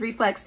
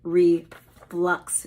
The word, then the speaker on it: reflux: but it's not acid reflex it is acid re flux with a u and the final word